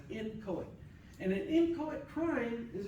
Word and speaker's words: inchoate: Okay, no matter how the pronunciations you're gonna hear, I'm just gonna call it as inchoate.